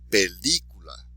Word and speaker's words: película: So even though it ends in a vowel, we're not going to say the second to last syllable. We're going to do it where the exception to the rule is.